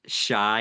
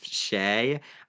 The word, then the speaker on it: Shay: I don't know if you've watched Survivor UK, but I called him I think it was Shy instead of Shay.